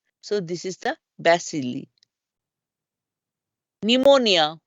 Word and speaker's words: pneumonia: this is the basili pneumonia we drop the P you all know pneumonia we never use the P pronounce this n as though the P was abset but it's p is